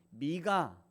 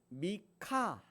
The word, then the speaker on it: 미가: 발음이에요 이게 히 발음이라 원래는 미카 미카의 히 발음이 약간 들어가게 그래서 미카 이렇게 번역하는게 좋은데 우리는 그냥 미가 좀 평이하게 번역을 했죠 그래서 미카 이렇게 발음하는게 맞는 것 같아요 그래서이 카라고 하는이 단어는